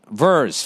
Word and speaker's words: vers: Vers for short. Pronounce verse as in a song.